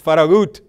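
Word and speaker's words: Farragut: stop at faragate station it's not faragate station it's faragut so a Spanish a Latino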